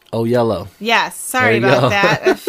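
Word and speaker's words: Oyelowo: it down um oh actually it says pronounced o yellow o yellow yes sorry about that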